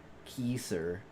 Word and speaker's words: Kaiser: It's actually the words and put together. Kisser. Okay.